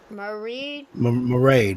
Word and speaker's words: Marade: Marade rhymes with mermaid.